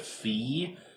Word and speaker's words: Fi: I call her Fi. The person on GameStop TV said Fee. I'm sticking with Fi. I don't really care if I'm right or wrong, but anyway, uh Fi is nowhere near as